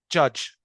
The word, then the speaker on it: judge: طيب انا عندي الكلمه دي judge، يبقى النطق الصحيح بتاعها الكوريكت pronunciation judge. طيب الايرور اللي بنعملها احنا كعرب احيانا بنطقها يبقى ها، بنقول دي جادج او بنطقها جادج. لا هي جادج. يبقى انا عندي الصوت ده ج ساوند. ج ساوند جادج.